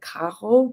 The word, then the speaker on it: Caro: But the problem is that they pronounce it Kaho, but I can't really say it correctly because I can't. Um but it's like with the rolled R and I can't do a Rald R.